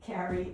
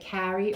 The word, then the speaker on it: Carrie: Well, it's just like in New York they'll say Carrie, Carrie. and British people do that too. They differentiate. Right. But in California, Carrie and Carrie are Carrie and Kerry are pronounced the same.